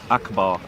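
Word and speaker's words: أكبر: Yeah, akbar, and it's pronounced akbar.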